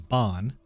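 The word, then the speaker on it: bean: brief uh the their their words for man and woman man is uh far which is spelled f-e-a-r and uh woman is bond which is b-e-a-n so Sean kind of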